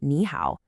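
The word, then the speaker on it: 你好: When you get two of those dipping third tones in a row, like in the famous greeting nihow, the first one actually changes. You say it like a rising second tone.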